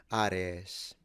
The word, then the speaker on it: Ares: They were the daughters of the god of war Ares, and they used... Just to say it in Greek pronunciation, it would be Ares.